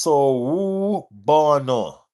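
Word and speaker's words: Sawubona: It's pronounced so bono. Okay. Sao bono.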